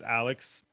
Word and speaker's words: ALX: I tell them Alex. I feel like it's easier, even though it's spelled ALX. Oh, that makes sense. Yeah. So, but it's Alex.